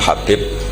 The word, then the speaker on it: Habib: Ada yang nulis Abi Abdurrahman Habib As-Sulami. Itu di harokatnya kitab itu ada yang nulis Hubab. Tapi yang benar, oh enggak, yang benar itu bacanya Habib.